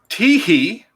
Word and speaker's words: Teehee: Kimberly Teehee. And yes, that is spelled exactly how it sounds.